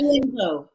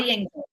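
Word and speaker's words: Odeyingbo: We're gonna use syllables. Sounded like Adeyembo. huh? Adeyembo. Adeyembo? Adeyembo. Imbo. Adeyembo. Okay. Dio Adeyembo.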